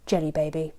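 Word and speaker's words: Djelibeybi: don't meet again the jela baby or to pronounce it how I think Pratchett wanted us to pronounce it Jenny baby oh my voice is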